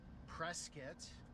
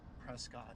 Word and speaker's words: Prescott: Skull Valley was important because of this line right here going out to Prescuit, as the locals say it, Prescott if you're from out of town.